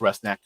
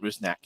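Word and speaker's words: Rusnák: which by the way, his name is pronounced Rustnack, not Rousnack.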